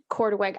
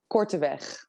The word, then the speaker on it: Korteweg: properly could you yes you actually did it really well in the anglified version okay but it is cortez this is really fun